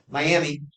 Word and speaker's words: Miami: Yeah, Miami. You would never know how to pronounce that word unless you knew how to pronounce the word.